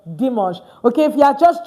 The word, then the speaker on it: dimanche: So please, no more dimanche, okay? It's now pronounced what? Dimanche.